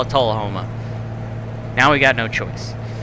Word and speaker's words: Tullahoma: Alright, so apparently it is Tullahoma. That's the official YouTube video that Caddy Monster pulled. So we're going to have to call it... Now we have to call it Tullahoma.